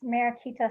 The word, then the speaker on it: Mariquita: realize business page all right my name is marikita and that's m a r i q